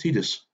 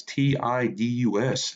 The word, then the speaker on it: Tidus: This guy says it's pronounced Titus. I'm like, it's Tidus.